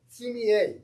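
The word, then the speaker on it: sumi-e: they created watercolors with sumi. Did I pronounce that correctly? Sumi sumier. The e is pronounced as a.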